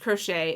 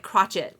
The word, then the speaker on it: crochet: multiple times in this I love how it pronounced crochet it was like crotchet or whatever it did not pronounce it correctly okay we're going to